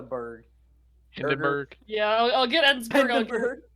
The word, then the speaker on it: Ensberg: It's Ensberg, not Einsberg.